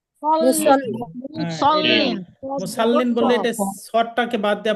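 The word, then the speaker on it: المصلين: للمصلين এটাকে মুসাল্লিন না মুসল্লিন? মুসল্লিন। মুসাল্লিন বললে এটা সদটাকে বাদ দিয়ে আপনি সিন বলবেন।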